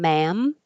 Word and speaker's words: ma'am: And then we did the difference between ma'am and man. Very hard to tell. Ma'am. man because they both end with a nasal m or n.